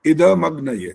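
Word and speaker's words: इदम् अग्नये: ये तो बोलना था इदम अग्नय, द का उच्चारण गलत हो रहा है।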